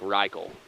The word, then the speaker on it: Rachel: He thinks it rhymes with cycle. So like Reichel. Okay.